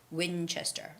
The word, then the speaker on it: Winchester: ruby ruby steakhouse and the word winchester winchester that's not an easy hard one to read it's just winchester it's winchester road winchester the stress goes on the word win winchester and comedy is not